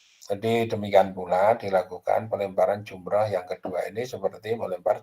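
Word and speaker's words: جمرة: Tadi itu bacanya jumrah ya, bukan jamrah. Kalau jamrah itu bara api.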